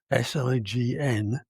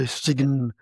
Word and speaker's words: sign: We don't say stigen, we say sign.